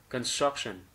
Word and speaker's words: construction: Thiếu từ struck, construction.